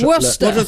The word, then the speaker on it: Worcester: C'est comme la sauce, comment elle s'appelle La sauce Worcester. Worcester sauce. Worcester. Ça s'écrit Worcester sauce.